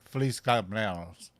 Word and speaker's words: Feliz cumpleaños: Feliz Feliz cumpleaños.